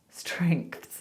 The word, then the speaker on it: strengths: So try it separated so you can go streng, start like that. Streng, strengths, strengths.